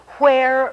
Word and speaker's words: where: book for this lesson see where rhymes with chair where chair this spy is r